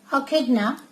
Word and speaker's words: echidna: This word is pronounced as echidna, okay, and this mammal is without external ears.